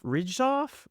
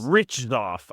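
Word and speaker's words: Hriczov: Ridgoff. I don't know. I like it. I It's a great name. However you'd say it. I think the H is silent.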